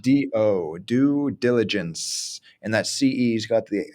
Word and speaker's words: due diligence: understood it and so even though it's spelled due do diligence it's like do due diligence and that ce's got